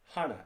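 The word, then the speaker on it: 하나: hana it's pronounced like hana h-o-n-n-a even though it looks like hannah right duel looks like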